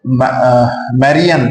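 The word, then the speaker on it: Marianne: तो मैरियन, sorry, यहाँ पे एक्चुअली फ्रेंच प्रोनाउंसिएशन जो है वो मैरियन है.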